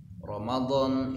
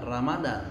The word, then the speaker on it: Ramadan: Makanya dalam ejaan bahasa Arab itu tidak ada ucapan ra ya, yang ada ro. Disebutnya bukan Ramadan tapi Ramadan.